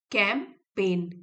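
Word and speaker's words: campaign: Social media देखिए ये जी silent है। कैंपेन कैंपेन अभियान चलाया सोशल मीडिया पर।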